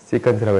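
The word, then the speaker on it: secant: 이거 섹이 아니고 시컨트예요. 너희가 섹으로 읽고 싶어가지고 맨날 섹섹거리는데 시컨트라고 읽으세요. 알겠지?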